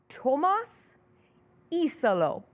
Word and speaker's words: Tuomas Iisalo: Let's pronounce his name right. Let's all get it right together. I just re-listened to the voice note that was sent to me from this weekend. Pronunciation guide time. I'll say it, and then I'll play it so that everybody else can hear it too. It's Tuomas Iisalo. Here he is. This is from Tuomas himself.